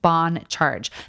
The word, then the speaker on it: BON CHARGE: That's spelled in all caps and pronounced Bon Charge.